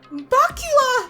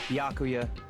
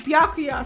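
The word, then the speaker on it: Byakuya: alone you're don't know you bacula wait what it's piakuya oh I've been saying his name wrong biakuya sorry man I'm sorry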